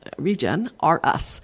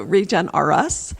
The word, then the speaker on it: Regenrus: name spelling is unusual so think regen like being regenerative r-e-g-e-n and then it's just on regen r us so think of toys r us so regen r us regenerous is how you